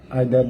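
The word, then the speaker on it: either: যেমন দেখেন, ইজ প্রত্যেকে, আইদার দুইয়ের মধ্যে একজন, নিদার বা নাইদার দুইজনের কেউই না। আবারও বলে নিই, আইদার ব্রিটিশ ইংলিশে আর ইদার হচ্ছে আমেরিকান ইংলিশে প্রোনাউন্সিয়েশন, আর নিদার আর নাইদার তাহলে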